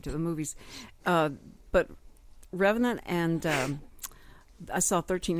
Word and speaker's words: Revenant: CU I want to know how do you pronounce Revenant and it came back and said it's Revenant it's was a French word and it meant